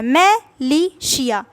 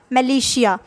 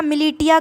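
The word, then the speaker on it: militia: अब देखिए इसको प्रोनाउंस करने में शायद आपको दिक्कत आए, इसलिए मैंने इस तरीके से लिख दिया है, मिलिशिया, मिलिशिया। आप इसको इस मिलिशिया मिलिटिया कंफ्यूज होते इसलिए मैंने ऐसे लिखा,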